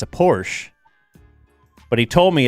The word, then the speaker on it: Porsche: He would tell you they say Porsche. It's Porsche.